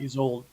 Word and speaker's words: Isolde: Tristan and how do you pronounce that? Isolde or something like that. Okay. Isolde, yeah.